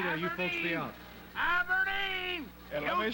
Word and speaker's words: Aberdeen: Aberdeen! And let me say it again, Aberdeen. I've been mispronouncing it for about 2 years.